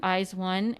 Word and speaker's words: IZ*ONE: So after doing some quick research right now, we found out that it's just how you pronounce their name, like of the group Eyes One. It's Color Eyes, Heart Eyes, Bloom Eyes.